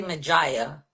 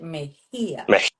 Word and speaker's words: Mejia: It's like with my last name, people say, when they don't know it, they say Mejia. And I'm like, and I Yeah. said, no, it's like if it had an H, Mejia, because they Mejia pronounce it.